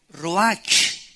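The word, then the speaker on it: רוח: es la palabra hebrea Roach que se pronuncia prcia ro La ch en el hebreo se pronuncia como j y que es la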